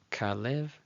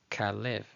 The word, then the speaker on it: Kalev: Then we have Kalev, Kalev, Kalev, translated as Caleb, Caleb.